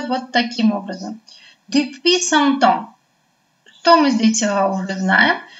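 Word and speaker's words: depuis cent ans: Следующая фраза у нас с вами читается вот таким образом. Depuis 100 ans.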